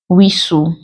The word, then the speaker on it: whistle: also have silent t there are words that contain silent T where it's like Hustle bustle Nestle opposed to Castle wrestle whistle it is also silent